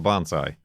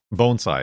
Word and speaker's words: bonsai: Who was concerned about the bonsai? Bone sigh, excuse me. I've talked about it so many times that you guys have corrected me on how I pronounce it.